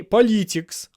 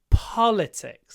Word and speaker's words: politics: not interested in politics we don't say politics oh no I am not interested in politics it's politics the stress is on the first syllable How do we mark